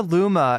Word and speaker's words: Loomer: uh Terri terribly sorry Laura Luma is how it's said let me let me